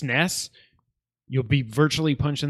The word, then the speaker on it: NES: yeah what the hell Nintendo says that the NES is pronounced ness did you see this